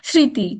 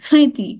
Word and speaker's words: স্মৃতি: সবাই জানি তাই না স্মৃতি স্মৃতি এখানে একটা নাসিক্য উচ্চারণ আছে নাকে নাকে কথা আছে স্মৃতি শব্দের মধ্যব শেষে